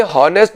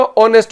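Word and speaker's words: honest: भाई ये हॉनेस्ट नहीं होता, ऑनेस्ट होता है, एच साइलेंट होता है।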